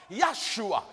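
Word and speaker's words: ישוע: So the name Joshua in Hebrew is correctly pronounced Yeshua.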